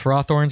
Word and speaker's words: Ferrothorns: Not Ferrothorns, Ferrothorns, that's how you say it.